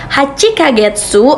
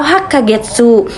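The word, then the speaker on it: 八か月: Benar, hachi ditambahkan dengan kagetsu atau penulisan dengan kanjinya bisa kalian lihat di sebelah kiri dan cara bacanya yakni hachi kagetsu atau hak kagetsu artinya 8 bulan.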